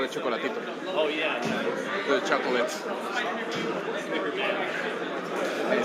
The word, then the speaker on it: Chocolatito: He's like, Well, we gotta say it like Manic says Chocolatito. Like next time in Chocolatito. no, they cut out the A. Chocolatito.